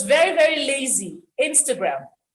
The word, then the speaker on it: Instagram: it's very very lazy instagram this vowel is a schwa sound this is what it's